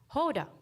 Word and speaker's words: Houda: sing about me jokingly the nickname that stuck the most was yoda since it rhymed a lot with my real name's pronunciation hoda my parents chose to spell my name with a u that is silent when pronounced h-o-u-d-a a grammatical choice shaped